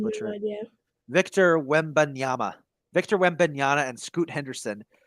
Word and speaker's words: Wembanyama: Victor Wembanyama.